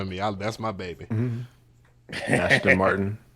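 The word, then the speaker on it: Aston Martin: Ashton Martin. You say Ashton, like ASH? Oh, man, I might be saying it wrong.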